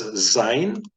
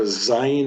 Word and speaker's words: Zayin: This letter Zayin is pronounced like the Z, as in zebra, and in fact that is a Hebrew word.